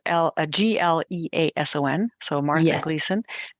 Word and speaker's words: Gleason: So let me just tell the listeners that Gleason is spelled Gleason. So Martha yes. Gleason, Gleason.